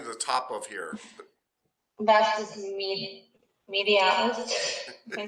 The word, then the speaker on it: vastus medialis: Vastus medialis.